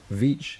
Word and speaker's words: Veatch: Veatch is spelled V-E-A-T-C. You can't even fit them on your hand, T-C-H, right? So it's actually 3 sounds, V-E-Ch.